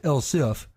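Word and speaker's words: elif: e LS i f still pronounced El if but dispelled without the e with that we're ready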